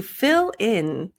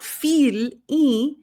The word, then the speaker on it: fill: changes the implication of it as well to fill in so not feel but like I F fil Fillin Lin Lin